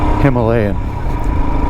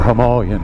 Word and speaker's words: Himalayan: They're not ice skating, I don't think, But anyway, on to the Himalayan, or Himalayan, depending where you're from and how you pronounce it.